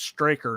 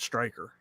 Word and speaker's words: Straker: As Glenn keeps reminding us, it's Straker, not Striker.